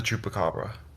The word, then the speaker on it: Chupacabra: my favorites I have to say is the Chupacabra I hope I said that right sorry to